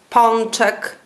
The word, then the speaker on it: pączek: Przed głoskami takimi jak d, t, dz, c, cz. O wymawiamy jak on. Na przykład pączek, piątek.